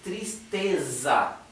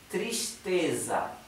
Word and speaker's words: tristeza: se es con z Entonces se pronuncia Z como la z del inglés no digan s porque el sonido s